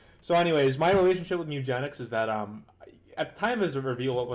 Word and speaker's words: Mewgenics: But, uh, if you're talking about this incarnation of the game, you have to say Muyph Genennics. That's exactly how to say it. Muyph Genennics exclamation point. So, anyways, my relationship with Mugenics is that, um, at the time of reveal, what time was this?